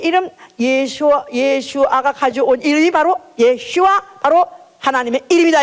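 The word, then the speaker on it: ישוע: 사실은 예슈아, 여호수아, 사실 그게 그 이름이 똑같은 이름이라고 그래요. 그래서 바로 하나님의 이름, 바로 아버지의 이름 예수아가 가져온 이름이 바로 예슈아, 바로 하나님의 이름이다 이 말이에요.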